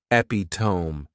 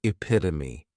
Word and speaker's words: epitome: Next is epitome, and this noun has 4 syllables, and the stress is on that second syllable, epitome.